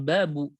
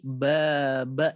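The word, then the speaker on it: بابَ: Jadi untuk yang ketiga ini kita ucapkannya itu atau bacanya itu bukan babu tetapi baba ya.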